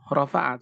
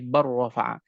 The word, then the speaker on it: بل رفعه: Dan demikian pula hadirin rahimakumullah dalam pengucapan barrafa'a, bukan rafa'a tapi barrafa'a. Kecuali kita mengetahui di dalam Al-Qur'an karena adanya saktah di dalam kalimat balrana, ini kembali kepada riwayat Hafs an Asim.